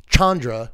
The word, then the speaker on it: Chandra: in a second but yeah let's look at Chandra real quick it's it's pretty good looking card honestly but yeah Chandra or as they kept saying on stream Chandra which I had never I didn't know that's